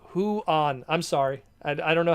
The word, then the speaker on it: Juan: Juan is pronounced Huan.